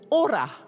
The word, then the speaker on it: ora: I'm going to expand on that and use this model that we use in our coaching called ora. Can everyone say ora? Roll your R's. Ora.